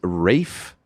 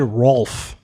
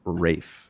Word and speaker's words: Ralph: vote for, and I've been corrected on the pronunciation here. This is Rafe. Rafe? No, it's not. Yes, it is. No, it's not. So I said Rolf. That's not. It's not that. either. Ralph.